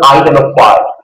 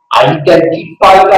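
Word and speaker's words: identify: 이거 아이데너티가 읽어요 티 발음 안 해요 아이데너티 이거 어바를 봐요 아이데너티 또는 아이데너파이 본 아이덴티티가 아니고 본 아이데너티 이거는 아이덴티파이가 아니라 아이덴티파이가 아니고요 아이데너파이 발음이 영어 발음이 되게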